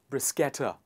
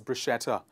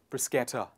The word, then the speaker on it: bruschetta: of fillings etc toppings etc and it is pronounced as brisketter a lot of people pronounce it as bruschetta it is not bruschetta it is brisketta please repeat after me bruschetta the next one